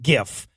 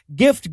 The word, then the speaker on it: GIF: this issue comes up the guy who invented it pronounces it jiff says one side that's a peanut butter says the other when Jesus sees are followed by an i or ii they're usually pronounced as soft says one side gift Gil's